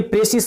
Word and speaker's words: précis: शुरू से मैंने यहां पर बताया कि डिफिनीशन क्या होता है, फिर ये प्रेसिस शब्द है इसकी उत्पत्ति कहां से हुआ है, और यह फ्रेंच शब्द है इसका उच्चारण प्रेसी होता है।